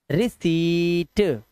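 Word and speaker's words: receipt: रिसीट रिसीट आधा पा है ना यह लिखा हुआ जो आधा पा लगा हुआ है ट से पहले यह मत पढ़ना यह गलत लिखा हुआ है वहां पे इसे रिसीप्ट बोलते हैं जब आप कहीं पैसा देते हो तो कहते हो ना भैया प्रूफ के तौर में कोई रसीद मिलेगी इस रसीद से ही इंग्लिश का वर्ड बना है रिसीप्ट रिसीप्ट नहीं आधा पा नहीं लगाना है रिसीट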